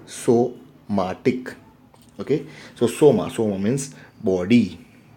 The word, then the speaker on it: somatic: So it is not somatic, it is, we should pronounce it as somatic.